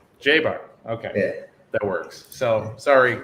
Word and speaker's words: Jaber: doing you know what i said jabber and i'm that is like the most american butchering i'm sure what is the right way to say your last name uh everyone gets it mixed up but it's jaybar okay that works so